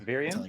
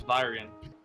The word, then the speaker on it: Vyrian: until Wait, is it I Virian? get it. It's Vyrian.